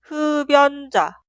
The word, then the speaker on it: 흡연자: así, pero se pronuncia 흡연자, 흡연자, 흡연자. En la pronunciación, la consonante final 비읍 se traslada al lugar de i응 en la sílaba posterior. i응, consonante inicial, es muda.